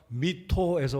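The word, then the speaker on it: mitto: 미션이란 말은 라틴어 미토에서 왔습니다. 미토, 끝에 발음이 오인데요.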